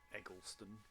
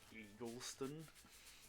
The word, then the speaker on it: Egleston: Egleston. It's pronounced Eagleston. You should reflect. I c I cannot believe that they've changed the pronunciation of his name from Egleston to Eagleston.